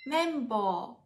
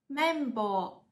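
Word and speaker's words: 綿棒: 棉签日语叫做 membo， membo，它也写作汉字，写作棉棒，读作 membo， membo。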